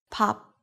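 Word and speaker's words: 밥: Pop. This means cooked rice. The consonant sound is exactly the same at the beginning and the end of the syllable.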